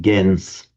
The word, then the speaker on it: gens: In Latin, it would have been pronounced gens, meaning people.